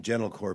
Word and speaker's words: Gentilcore: uh I'd love to have you so the pronunciation gentle core people might misspell that so it's g n